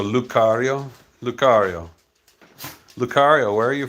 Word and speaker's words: Lucario: Oh, the C is pronounced as a K, so Lucario.